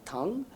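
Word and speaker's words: Thang: Tang uh spelling is T h a n g but pronounced Dr. tongue and he actually uh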